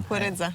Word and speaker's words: kukurydza: Kukurydza.